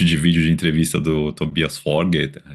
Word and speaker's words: Tobias Forge: Tem um monte de vídeo de entrevista do Tobias Forger. Tobias Fogger que tive uma aula de Noroeg semana passada falaram como pronúncia correta.